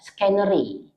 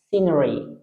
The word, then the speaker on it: scenery: Nah, banyak orang yang membaca ini adalah scannery. Padahal bacaannya adalah scenery. Itu bacaannya.